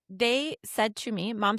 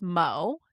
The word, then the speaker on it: Mo: But my family nickname is Mo. M-O. But the O throws people off.